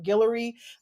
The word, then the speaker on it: Guillory: So a yeah, Jasmine how do you pronounce her name? Guillory yes.